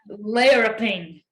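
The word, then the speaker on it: laurriping: as much so um it is pronounced laraping we'll spell it um yeah l-a-u-r-r-i-p-i-n-g layer of thing so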